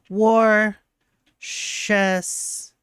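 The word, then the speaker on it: Worcestershire: to pronounce this is warshire sauce it's warer sauce did I get it did I win no an easy way to remember how to say it is like War chess sauce like that war shester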